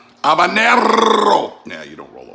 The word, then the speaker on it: habanero: habaneros habaneros in spanish i like to say habanero not pronounced h you know abanero habanero now you don't roll